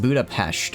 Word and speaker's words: Budapest: Well, it's actually pronounced Budapest, apparently like a shh sound.